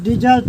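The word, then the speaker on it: dessert: और दूसरा डेजर्ट का मतलब यहां पर डेजर्ट नहीं डेजर्ट होगा और जिसका मतलब मिठाई।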